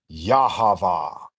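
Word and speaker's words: יהוה: Like I am what I am is ani, ani, and then this in Hebrew should be pronounced Yahava.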